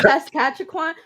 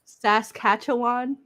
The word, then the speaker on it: Saskatchewan: Oh, Saskatchewan. And you know what? I know what that is because I listened to Missing and Murdered. So hold on. Pronounce that one more time. Saskatchewan.